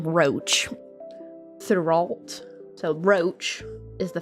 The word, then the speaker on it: Roch: we have on our butcher their names because they're French but it's Roche but we'll call him Roach throughout so roach is